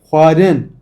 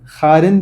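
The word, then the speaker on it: xwarin: Huarın. Huarın. Huarın yemek demek. Huarın. Bakın harın değil.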